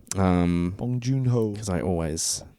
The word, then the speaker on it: Bong Joon-ho: to make sure I say his name right bong joon-ho bong joon-ho cuz I always say it incorrectly yeah bong